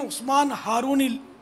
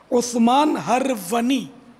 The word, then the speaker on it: عثمان ہرونی: اللہ الغنی تشریف لائے۔ یہ عموماً عثمان ہارونی بولتے ہیں لوگ، کوئی عثمان ہارونی بولتا ہے، کوئی عثمان ہرونی پڑھتا ہے، تو یہ اصل تلفظ ہے عثمان ہرونی۔ خواجہ غریب نواز کے